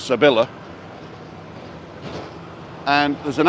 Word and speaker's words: Sevilla: So it's an L. So it's Sevilla.